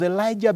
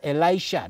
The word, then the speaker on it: Elisha: i pronounce it well yes elisha not elijah the first one was elijah now we are talk